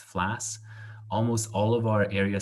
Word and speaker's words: FLAS: Area Studies Scholarships, FLAS, it's just pronounced FLAS.